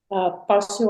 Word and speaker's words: passo: Mas quando sair, passo a tua casa. Mhm. And here, remember the O becomes Passo. more of a U and goes, Passo.